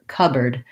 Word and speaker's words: cupboard: So this board gets reduced to a bird, just an sound, actually just like the word bird. And we don't say the P of cup. So we say cupboard, with first syllable stress.